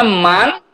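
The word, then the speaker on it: مَن: Kalau dibacanya man, menggunakan fathah, itu artinya siapa.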